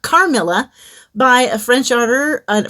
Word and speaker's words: Carmilla: then I'll be reading caramilla no not caramella carmilla by a French order